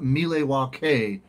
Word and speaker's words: Milwaukee: It's actually pronounced Milwaukee.